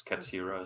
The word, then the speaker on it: Katira: So it's Katira, is that it?